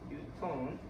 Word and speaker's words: 뉴턴: 단위는 이 문자 그대로 읽는 게 아니다. 그 단위의 고유 명칭을 읽어줘야 된다. 그래서 아까 힘의 단위였던 이 문자로 쓰면 N 뭐라고 읽어야 된다? 뉴턴이라고 읽어야 된다. 뉴턴.